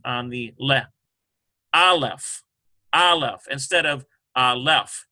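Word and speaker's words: אלף: That's called a munah. And it means that this syllable has the accent.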